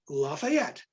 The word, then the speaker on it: Lafayette: his his uh his noble name la one syllable fayette and put it together put those two parts together to make a commoner's name lafayette so he himself would